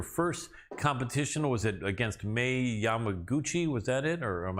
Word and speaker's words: Mei Yamaguchi: Was it against Mei Yamaguchi? Was that it? Or am I mispronouncing that? Yes, Mei Yamaguchi.